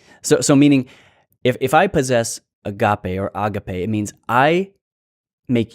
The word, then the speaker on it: agape: Sometimes you may have been accustomed to hearing agape. Use it however you want. I think the actual pronunciation is agape.